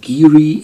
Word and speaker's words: Garioch: Ah, hier steht es, pronounced Geary in the ancient Doric dialect of Aberdeenshire.